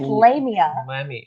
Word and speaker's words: Lamia: What do you mean it's not Lamina? I thought it was. Her name is not Lamina. It's Lamia.